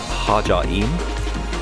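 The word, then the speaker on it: Ħaġar Qim: So, while I can tell you that this is pronounced Mnajdra, and this is pronounced Hagar Qim, the rest of the language I will probably completely annihilate, so apologies all round.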